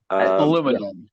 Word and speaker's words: aluminum: IAM depending on how you would like to pronounce it aluminum we're not savages as a minium is the